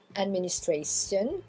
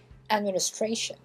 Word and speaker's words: administration: C'est pas administration ou station, hein, c'est administration. Administration. Shun.